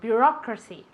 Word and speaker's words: bureaucracy: Bureaucracy. Bureaucracy, okay? Again, burocracia. It's a different accent to Spanish, okay? Burocracia, and in English, bureaucracy.